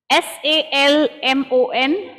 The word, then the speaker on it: salmon: words are common words s-a-l-m-o-n like azad said the l is silent it is salmon what is it and